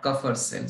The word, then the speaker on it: Kupffer: Okay, it is pronounced as what? Kupffer cell.